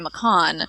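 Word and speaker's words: Maccon: said no it it should actually be maon um because I wanted him to sound like bacon right because everybody loves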